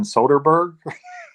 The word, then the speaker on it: Soderbergh: I don't want to pronounce his name wrong. Steven Soderbergh.